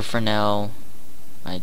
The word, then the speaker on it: Fresnel: Or Fresnel. It's pronounced Fresnel, but people will know it as Fresnel.